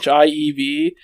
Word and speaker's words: Sheev: So his name's Sheev Palpatine, but it's Shiev, and I've heard people pronounce it Sheev or Sheev. Like the country, the country Kiev.